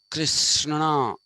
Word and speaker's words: Krishna: is the spirit that permeates the universe krsna krishna that's how it is supposed to be pronounced it is also the spirit that permeates